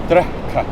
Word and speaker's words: drekka: Or to drink, D-R-E-K-K-A. Drekka. Drekka. Yeah. Drekka. Okay. That's an unusual sort of pronunciation thing.